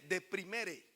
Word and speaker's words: deprimere: La palabra depresión viene del latín, que se pronuncia y se lee deprimere, y significa hundimiento o abatimiento.